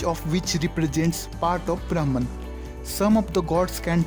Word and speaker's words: Brahman: Hindus believe in one great power or supreme god called Brahman that exists in everything. In Sanskrit, Brahman is pronounced as Brahm.